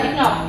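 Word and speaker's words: Bích Ngọc: Yeah, Big Ngọc.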